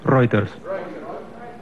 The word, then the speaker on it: Reuters: Sí, Reuters. Reuters, correcto. Se vio una propaganda en una época, ¿te acuerdas? Se pronuncia Reuters, pero se escribe Reuters.